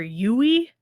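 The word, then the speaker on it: Yueh: pronouncing it after you mm-hmm and it's they pronounce it dr yui and i'm like okay but it's cool i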